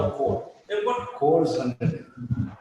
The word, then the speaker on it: corps: something known as the corps. Don't you dare pronounce it as corps. So as what corps? It is core, right? But I don't know why they spell it like that.